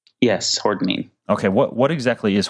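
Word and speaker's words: hordenine: Am I pronouncing that correctly? Yes, hordinine.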